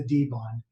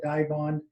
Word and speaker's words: Dibond: where we make it there is a pronunciation that we typically use and that is the the d-bond uh a lot of people in the market have called it die bond um for us it's